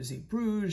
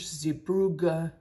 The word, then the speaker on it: Zeebrugge: Many ships will stop at Zeebrugge, pronounced different ways in different languages. It's either Zeebrugge, Zeebrugge, Zeebrugge.